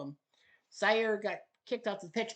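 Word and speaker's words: Zaire: Sire or what?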